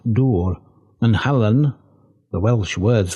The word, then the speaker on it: Dŵr: If, then, they can be read Dor Dorum and Helgain Dorum, Dor and Helgain are nearly Dŵr, or as it is pronounced, Dŵr, and Hallan, the Welsh words for water and salt, respectively.